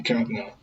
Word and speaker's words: Kavanaugh: week about, I still don't know how to pronounce his name. The Supreme Court nominee, Brett Kavanaugh. It's Kavanaugh.